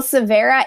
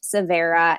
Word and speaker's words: Savhera: can find you and let's make sure we spell it as well because i know that not everybody speaks hindi so yeah well severa is a hindi word that means new beginning